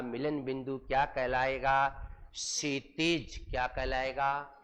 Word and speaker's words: क्षितिज: क्षितिज। क्या कहलाएगा? क्षितिज नॉट क्षितिज नहीं क्षितज शुद्ध उच्चारण है।